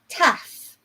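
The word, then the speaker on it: ταυ: Taf, which is like our letter T, if you like.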